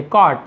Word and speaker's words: कॉट: ही कॉट, इसे कॉट नहीं पढ़ेंगे, केवल कॉट पढ़ेंगे, कॉट, इस प्रकार से, ठीक है। UGHT लिखा हुआ है लेकिन इसे कॉट पढ़ेंगे, साइलेंट होता है।